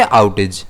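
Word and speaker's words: outage: इसे हम प्रोनाउंस करेंगे आउटेज। ए पर रहेगा।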